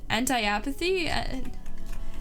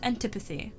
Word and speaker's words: antipathy: Anti-apathy? Antipathy. A deep-seated feeling of dislike or aversion. It is pronounced antipathy.